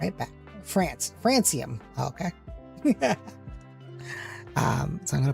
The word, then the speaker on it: Francium: Yeah, it's pronounced like the country Francium has a halflife of 17 minutes.